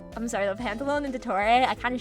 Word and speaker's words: Pantalone: Pantalone him and pantalone though.